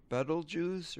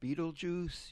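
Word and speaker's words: Betelgeuse: shoulder of Orion is the star Beetlejuice or Beetlejuice. You can pronounce it either way and I guess it's correct.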